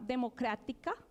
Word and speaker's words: Democrática: Hay uno muy interesante que les invito a conocer que se llama Democrática, digamos, hago acento en TIC, porque está muy interesado en financiar organizaciones de base que estén trabajando en temas de democracia apalancados por la tecnología.